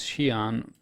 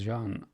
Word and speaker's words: Xi'an: They say here the pronunciation is Xi'an, but in the Manchester CitizenCon, when they showed their motion capture, you hear actor and when they show the Morrow guide through the Idris, you hear them talking about Jean. They pronounce it as Jean rather than Xi'an, and even Chris Roberts says Jean. So what the hell? I find it extremely stupid to write it one way and pronounce it another way.